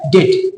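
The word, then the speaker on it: debt: हमारे हिसाब से तो होना चाहिए डेप्ट लेकिन ये डेप्ट नहीं है ये है डेट इसमें क्या है ना इसमें बी साइलेंट है ठीक है तो ये हो गया डेट उसी तरीके से आप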